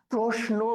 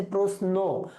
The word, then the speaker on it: প্রশ্ন: আচ্ছা, প্রশ্ন, এইখানে অনেকে একটা ঝামেলা করে, আমরা কিন্তু অনেকে প্রশ্ন বলি, তালব্য শ দিয়ে উচ্চারণ করি, ঠিক আছে, কিন্তু আসলে কিন্তু এটা হবে যে প্রশ্ন, দন্ত স দিয়ে উচ্চারণ করি।